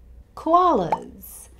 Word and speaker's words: koala: Like kangaroo, this has three syllables. K with the schwa sound, wa, open your mouth, wa, and l, again with the schwa sound. So there are two schwa sounds here. So which syllable is the stressed syllable?